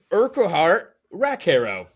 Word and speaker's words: Urquhart Rackharrow: The correct answer is Urquhart Rackharrow, which rhymes with Amicus Caro, Leprechaun.